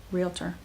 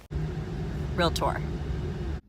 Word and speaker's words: Realtor: 2 syllables. Realtor. Realtor.